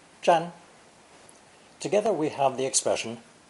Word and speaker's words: 占: interpretation of the cracks this new character is pronounced first tone chan together we have the